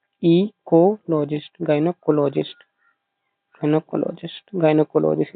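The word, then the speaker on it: gynaecologist: देखो गाय ना ईकोलॉजिस्ट गायनकोलॉजिस्ट गनकोलॉजिस्ट गायनेकोलॉजिस्ट इसको ब्रेक कर देना गायनाकोलॉजिस्ट गायने गायने इसको बोलो गायनेकोलॉजिस्ट गायनेकोलॉजिस्ट ठीक है वुमन वुमस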